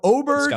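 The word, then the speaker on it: Åberg: Then you go Smalley, you got Oberg. So you you better know how to pronounce that cuz that looks like an A to me. So Oberg.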